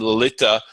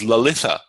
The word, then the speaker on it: Lalita: Sometimes in South Indian names, for example, someone might spell their name, Sanskrit name Lalita might become in South Indian language transliterations might be given as Lalitha, because they're trying to show that it's a softened, it's actually not an aspirate ta, but they're trying to show that it's very soft because it's dental.